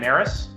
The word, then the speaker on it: Narus: It's cold today, but, our guest, and correct me if I say your name wrong, Narus?